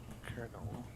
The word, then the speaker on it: kernel: Kernel. Kernel. It's Kernel. pronounced the same way as Colonel, the military rank. It's Okay. just spelled with a K and an ERNEL.